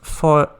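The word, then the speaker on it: Fowey: Down to Fawi, pronounced foy. Oh, foy, like boy.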